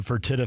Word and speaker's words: Fertitta: Is that the Fertitta family you're referring to?